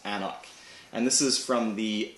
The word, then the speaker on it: AnCnoc: But the middle C there is silent because it's Gaelic. So it's pronounced AnCnoc.